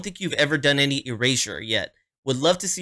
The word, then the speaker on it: Erasure: this uh okay so it seems like it might be pronounced eraser uh at least I watched the interview right here a short little clip where they were saying the name um he said that maybe eraser head was kind of an early inspiration for it but really it could mean whatever you want it to mean and they were pronouncing it eraser so we're going to